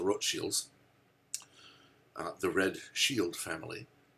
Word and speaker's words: Rothschild: world wars and basically the rothschilds or actually as it is pronounced the rote shields uh the red shield